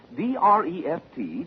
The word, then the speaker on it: Dreft: I'll spell it. D-R-E-F-T, Dreft.